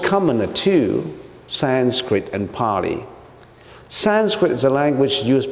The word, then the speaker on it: Pali: But the most common are two, Sanskrit and Pali.